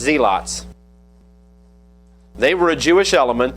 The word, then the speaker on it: zealots: One of them was what we would pronounce this word zealots, but it was pronounced zeelots.